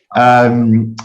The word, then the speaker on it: Monash: Is that pronounced correctly? Monash.